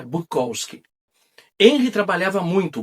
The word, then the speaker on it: Bukowski: Também mudaram a pronúncia de seu sobrenome para Bukowski. Em contraponto, a pronúncia europeia e mais compacta, Bukowski, que até hoje aqui no Brasil muita gente chama Bukowski, mas a pronúncia que eles pegaram é Bukowski.